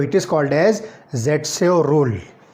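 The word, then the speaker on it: Zaitsev: तो इट is called as ज़ेटसेव rule, ज़ेटसेव, जिसका एक प्रोनाउंसिएशन बनता है सेटजेफ। ठीक है, आप इसको सेटजेफ भी कह सकते हो।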